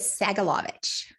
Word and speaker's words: Sagolovich: It is Sagolovich. Sagel. Phonetically, exactly what it looks like, but people look at it and get scared.